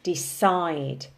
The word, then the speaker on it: decide: decide when we say decide in the present simple tense the emphasis is on the second syllable decide but when we turn